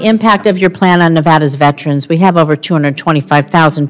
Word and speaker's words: Nevada: a month point in okay Nevada it's Nevada sir please say it correctly it's Nevada if a veteran lives